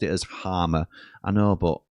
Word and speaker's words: Hamer: Trace says, "PS, I asked Hamer if if it's Harmer or Hamer and he's pronounced it as Harmer.